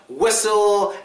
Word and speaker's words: whistle: get to it now there are a lot of other words like whistle and wrestle and stuff like that that have a silent te but I'll get to